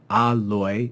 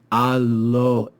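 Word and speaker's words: aloë: We read here that it's a diaresis, so it's not alloy, it's alloe, alloe. That diaresis marks a separation of the vowels and tells us this should not be read as a diphthong.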